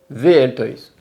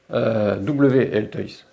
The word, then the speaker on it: WL Toys: Tu vas trouver du VL Toys. WL Toys. Tu le prononces comme tu veux, ça s'écrit WL Toys.